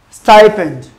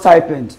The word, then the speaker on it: stipend: Stipend, stipend. So it's pronounced stipend and not stipend.